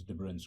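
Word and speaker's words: de Bruijn: what is called as tebron's graph okay so finish with the pronunciation of Dutch names but I think the pronunciation of the correct pronunciation is difference graphs and so let's look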